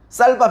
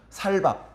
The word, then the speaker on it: 쌀밥: 요게 마치 우리나라 사람들 경상도 사람들이이 쌍시옷 발음을 잘 못 하지 않습니까 쌍시옷 발음 그래서 쌀밥 해 봐 쌀밥 그러면 살밥 살밥 그럽니다 찹살 해봐 찹살 찹살